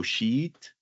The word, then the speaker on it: sheet: um if you pronounce my tip for you is to elongate that e sound so sheet because if you say it short you say something very bad that you don't want to say out loud so make